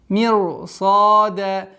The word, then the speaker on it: مِرْصَادًا: Канат мирсада. Здесь у нас исключение из правил, и поэтому ра здесь читается твердо.